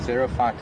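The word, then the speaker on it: xerophyte: in off the road a zero fight is a ground dwelling plant spelt with an x not a z so doula ray wants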